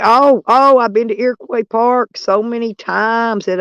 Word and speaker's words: Iroquois: even say it right I can pronounce it right right Iroquois Iroquois Park most people can't even pronounce that but I can't because